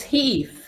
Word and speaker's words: Heath: Is it Health, Flora? It's Heath. Oh, Heath. My bad. Heath. Oh, you put that L in there. Okay. Health. Health. Health. We'll just call him Health. Yeah, Health. Heath Flora.